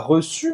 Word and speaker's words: reçu: Olha a pronúncia do reçu. Reçu. Reçu, que é o passado de recevoir. Receber em francês, recevoir. Tu as reçu, j'ai reçu. Então, para fazer esse U, faz a boca do O e fala I.